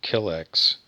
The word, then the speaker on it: Killex: No, I can't quite go use Killark, but I was going to call it Killex. Like rhymes with Skrillex.